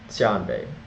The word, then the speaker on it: Xianbei: carne now moving to the tan Bay State tan Bay this the correct pronunciation but it's spelled x i n b